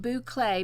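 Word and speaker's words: bouclé: um to see because it's pronounced Boulay, but as you can see it is spelled B O U C L E.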